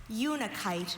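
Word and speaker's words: unakite: Unikite. This is the only pronunciation.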